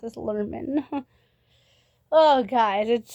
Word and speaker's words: Lerman: His name is pronounced as Lerman. I am still learning that. I thought it was Larman this whole time.